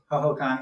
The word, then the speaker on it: Hohokam: Well, that could be another way to look at, if you see this thing grabbing, is it pronounced Hohokam? Hohokam, yeah.